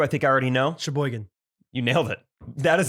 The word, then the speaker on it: Sheboygan: that they would like us to try and pronounce i will say round the top the first two i think i already know sheboygan you nailed it that is the first one sheboygan very biggest sheboygan the second one i know